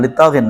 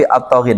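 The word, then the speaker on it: الطاغين: Jadi bacanya jangan litoghin tapi atoghin.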